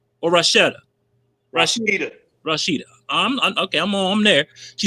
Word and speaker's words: Rasheta: She says, hey, Rasheta. I'm saying your name wrong. Rasheta, am I right? Or Rasheta? Rasheta.